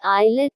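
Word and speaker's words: islet: आई के बीच आया एस कई बार साइलेंट होता है जैसे आई एस आई ए टी आईलेट छोटा टापू आई एस एल ए एन D eyelid टापू शब्द के अंत में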